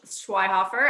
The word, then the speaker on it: Schweihofer: Yeah, it's Schweihofer. I spell it wrong sometimes.